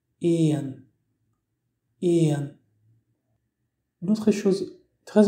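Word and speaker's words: éan: Pour dire le mot oiseau, en irlandais se dit Ian. Ian.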